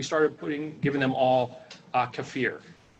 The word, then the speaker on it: kefir: but it's non-dairy fermentation yeah yeah so yeah KEF ir so Kieffer I think I'm pills if I